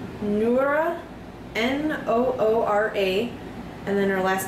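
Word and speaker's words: Noora Laivola: How do you pronounce her name? Noora, N-O-O-R-A, and then her last name is L-A-I-V-O-L-A.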